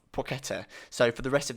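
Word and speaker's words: Płacheta: right now saying or suggesting how to pronounce the name which is chemin suave porchetta so for the rest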